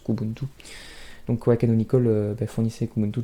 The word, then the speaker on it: Kubuntu: Certains qui préfèrent prononcer la première lettre séparément, mais la majorité des gens prononcent Kubuntu.